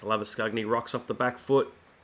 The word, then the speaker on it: Labuschagne: just the two overs the afrikaans pronunciation is lava scugney and the australian pronunciation is labor shane but i always think you should try and pronounce people's names correctly as lava skugnet rocks off the back